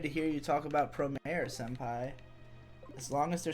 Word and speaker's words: Promare: where everybody in the comments was like, it's Promare.